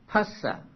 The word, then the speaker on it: phassa: And in Pali it is phassa. Now PH in Pali should be pronounced pa and not as F in English.